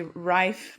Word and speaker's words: Ryf: Some call me Rife, but yeah, is the correct pronunciation.